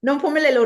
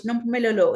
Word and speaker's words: Nompumelelo: I know many, when they try to say my name, they always butcher my name, because really, Nompumelelo, really, in my own language, Nompumelelo, it means mother of all success.